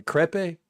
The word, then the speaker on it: crepe: A crepe. Crepe. I've always wanted to know. A creep. Now it's clip. Crep with a short e.